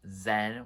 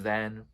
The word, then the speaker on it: Xen: her first studio album, Zen, which is spelled Xen. So maybe it's pronounced a different way, but I think it's Zen still.